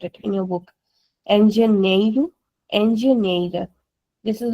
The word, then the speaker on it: engenheiro: Engenheiro, engenheira. This is how we pronounce it. Because we have an NH as well here. The sound is nya.